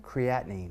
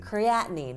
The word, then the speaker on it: creatinine: How do you pronounce it again? Creatinine. Creatinine.